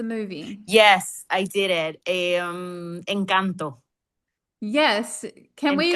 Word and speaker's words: Encanto: has this amazing video where she's looked at this movie Encanto. Is that how you say it? Yeah. Yeah. Encanto.